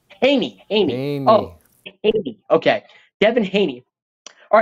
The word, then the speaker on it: Haney: Everybody, can you help me with that pronunciation, please? Devin Haney? Conley? Haney. Haney. Haney. Oh, Haney.